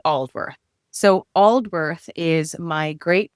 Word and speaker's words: Aldworth: So, coincidentally, it starts with the name you couldn't pronounce. It's Oldworth.